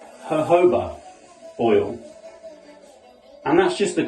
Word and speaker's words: jojoba: Now it says jojoba, but it's actually pronounced jojoba oil.